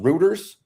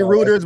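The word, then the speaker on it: Reuters: my man Doc already talked about um it's pronounced Routers. Reu I always say rooters, but it might be routers.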